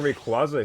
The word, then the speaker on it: Rayquaza: It's based on the term Quasar.